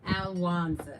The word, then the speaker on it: Alwanza: But every time you say my name, you prophesy that I am winning. I have won.